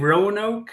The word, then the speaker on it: Roanoke: So, the lost colony of Roanoke, am I pronouncing that correctly even?